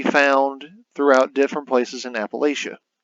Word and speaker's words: Appalachia: Ultracite is an incredibly rare mineral and metal that can be found throughout different places in Appalachia, or Appalachia as some people pronounce it.